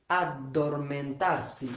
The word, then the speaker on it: addormentarsi: impariamo, ad, সবাই মুখ পড়েন, আমার সাথে পড়েন, উচ্চারণ শিখেন, ad, dor, men, tar, si।